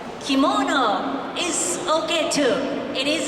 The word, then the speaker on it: kimono: is called in Japanese kimono. Kimono is okay too. It is English. In Japanese, its pronunciation is more flat.